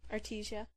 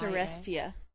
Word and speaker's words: Arestia: Artesia. That's not how it's spelled. How's it spelled? A-R-E-S. Oh, it's Arestia. Sorry. Artesia, like water. I thought maybe it was a typo. Arestia. Okay, Arestia from Toronto writes in with one good reason